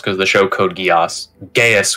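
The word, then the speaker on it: geis: ] it's called yes geass would be how it's most commonly pronounced because the show code geass gaius would be closer to the original irish it sounds like you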